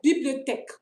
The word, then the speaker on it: bibliothèque: Not tech. Bibliothèque.